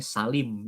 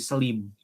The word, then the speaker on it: Selim: Iya, kalau kita bacanya Salim ya, Salim. Di sana mungkin susah menyebut Salim itu, jadi Selim.